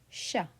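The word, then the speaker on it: chat: So we would pronounce it as sha sha and then a. Okay. So sha Sha T is silent because it is not in careful.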